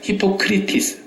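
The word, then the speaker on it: ὑποκριτής: 외식이라는 이 단어는 히포크리토스라는 말인데 히포크리테스라는 말은 의사들이 히포크라테스 선서하죠. 그거하고 비슷한 발음인데 그건 달라요. 히포크리티스.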